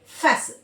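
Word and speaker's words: fasten: जैसे देखिए एक वर्ड होता है फैसल इसको हम फास्ट नहीं बोलेंगे।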